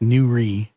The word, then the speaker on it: Nourrit: Yeah, but his name is pronounced Nourrit Lame Okay.